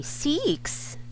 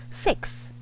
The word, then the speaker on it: six: uh oh okay you should pronounce it with such with with with a short i or with a short e you don't say seeks which should be six 6 so i'm writing